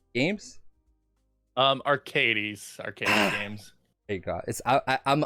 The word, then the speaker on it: Archades: I'm probably gonna mispronounce it, but I'm gonna do it. Archades Games. Arcades Games.